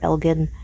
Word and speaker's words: Elgin: We do pronounce that town that way here, Elgin.